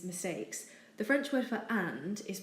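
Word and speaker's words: est: the French word for and is pronounced a not at it's simply a the verb is such as he is and she is it does look like s but it's actually also pronounced a for example la T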